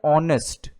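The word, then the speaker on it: honest: तो स्टार्टिंग का जो साउंड है, जैसे मैंने बताया एच साइलेंट है, हम इसको रीड करते हैं ऑनेस्ट।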